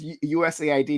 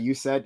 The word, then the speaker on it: USAID: tonight yeah uh Charlie It's pronounced usaid not you said I think you said